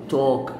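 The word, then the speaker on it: talk: ناخد الافعال ديت دايف يغوص دايف يتكلم توك توك، هنا الكي لما تيجي وراها ايدي تنطق ت توك تحدث او تكلم يعني.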